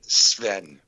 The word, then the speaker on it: Sven: the s that go together right there like sven well it's actually spelt s-v-e-n wait what is